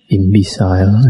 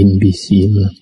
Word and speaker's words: imbecile: The last talk I read imbecile. Actually, it should be imbecile.